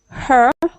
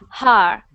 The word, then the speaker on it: her: is perfect next one her her good sometimes I hear har har like a like a h a r so just be careful with that one okay her okay her